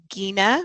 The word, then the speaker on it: Gina: Um, an interesting um, fact about my name that's hard to remember, but it is pronounced Gina with the hardg. It's a Scandinavian pronunciation.